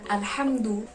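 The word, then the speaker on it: الحمد: huruf Heart tadi kalimat alhamdu lillah huruf ha itu mah harusnya berada di tenggorokan bagian tengah jadi kita harus bacanya al-hamdu jadi Alhamdulillah itu adalah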